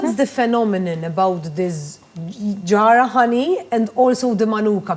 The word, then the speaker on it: Jarrah: manuka and I have a new honey called Yara the the the Australian pronounce being ticked off funny Australian how to pronounce in fact I've I without knowing that you pronounce it yeah I was promising it's Jarrah honey from Australia yeah okay so no generally